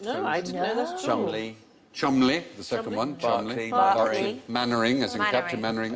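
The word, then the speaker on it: Cholmondeley: sure fanshawe yes did you know that was pronounced no i didn't know that chumley the second one charlie mannering as in capture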